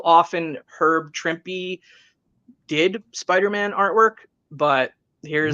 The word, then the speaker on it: Trimpe: But of course, you know, Trimpe is I don't know whether I'm pronouncing that right. It is Trimpe.